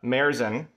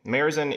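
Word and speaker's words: Märzen: festive beer first uh marezen i believe that's the current pronunciation merizen is the type of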